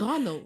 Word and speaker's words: Logano: It's Logano. Yo, his name is It's three syllable.